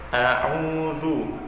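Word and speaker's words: أعوذ: A'udzu, zu-nya ini baris dhammah. Jadi cara pengucapan huruf za, yaitu ujung lidah bertemu dengan dua gigi seri atas, ditempelkan lidahnya ke atas. Zu, za, zi, zu. A'udzu, ya.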